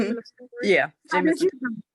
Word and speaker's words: Jameson: Yeah, Jameson.